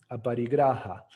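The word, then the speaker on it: अपरिग्रह: Aparigraha. El sánscrito es un lenguaje gutural, entonces es difícil pronunciarlo correcto. Sería aparigraha. Y la acepción que yo entiendo más prudente de este término es desarrollar el desapego.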